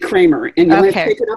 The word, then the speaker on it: Creamer: is it is it Kramer or creamer yeah I it's spelled creamer I pronounce it Kramer with my husband I